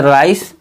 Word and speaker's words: rice: जैसे राइस, RICE, राइस में सी को हम सा पढ़ रहे हैं, राइस, ई को फिर भी नहीं पढ़ रहे हैं यहाँ।